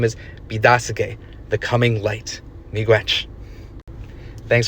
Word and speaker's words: Biidaasige: So, Be-da-sig-e became Petoskey.